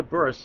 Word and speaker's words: Bearce: Kea Bur. You'll see B E A R C E pronounced Bur.